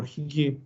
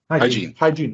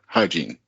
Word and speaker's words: hygiene: confidence business type and how do you pronounce hygiene or higi hygiene okay okay then yeah fine uh so just as if you met someone named Gene right hygiene okay okay uh then